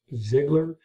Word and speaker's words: Zigler: Travis Zigler. Am I pronouncing that correctly?